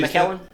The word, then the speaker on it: McClellan: Yeah, my friend and BJ Callahan has just got him one from McClellan Guitars too. Really? Is that how you say it, McClellan?